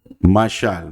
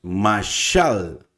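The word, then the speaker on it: משל: Bueno, aquí tenemos la mem con la a, nos dice ma, obviamente. La shin con la a, entonces estamos diciendo ma, sha, y la lamed, que es un sonido de una L, mashal, mashal.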